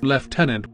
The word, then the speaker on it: lieutenant: out my American pride the narrator pronounced the word lieutenant as leftenant as such I was